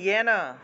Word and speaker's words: येन: আচ্ছা, ইয়তঃ প্রবৃত্তির ভূতানাম, যেন উচ্চারণ হবে ইয়েন, ইয়েন সর্বম ইদম ততম स्वकर्मणा तम व्यच्य, सिद्धिम दय धय सिद्धिम विन्दति मानवः।